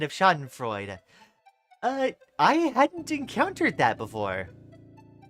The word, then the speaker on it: Schadenfreude: FYI, the E is pronounced at the end of Schadenfreude. I hadn't encountered that before. I've always heard people talk about it as just Schadenfreude.